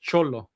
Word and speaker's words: Xolo: But Cholo, it's Xolo, which is a type of dog, a choloquin.